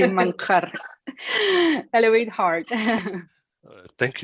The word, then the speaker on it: Manjarrez: Manjarres? Manjarres. It's actually Manjarres.